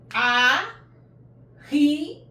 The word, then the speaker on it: ahe: A, he, a. Remember? A in English, a in Esan. He, a. I'm combining these two together and it pronounced he, a, he, a. A, he, two letters joined together, pronounce he, a.